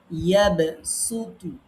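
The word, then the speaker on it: يبسط: সূরা বাকারার ২৪৫ নাম্বার আয়াত, আপনি সেখানে যান, লেখা আছে ইয়াবসুতু। এখন এইখানে আমরা সিন পড়বো না সোয়াদ পড়বো? এই যে ডান পাশে দেখেন লিখে দিয়েছি যে এই জায়গাতে সিন পড়া উত্তম।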